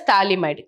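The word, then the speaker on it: Phthalimide: Okay, so P here is silent, we call it as thalamide.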